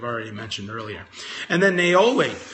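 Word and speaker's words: niaouli: Naoli is spelled N-I-A-O-U-L-I. Neroli is Neroli. So don't quite confuse those two. So this is Naoli.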